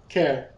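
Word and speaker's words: Caer: Is it of Celtic origin? Care. Because the pronunciation has a K in it on the pronunciation guide.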